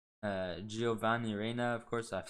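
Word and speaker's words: Giovanni Reyna: Gionavi Reina, Giovanni Reina, of course, I've said it wrong.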